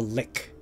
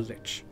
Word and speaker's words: lich: how to pronounce it correctly but I was pronouncing Lich a lick a lick like l i c k but